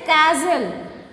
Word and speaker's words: castle: castle. So which is silent here? L is silent.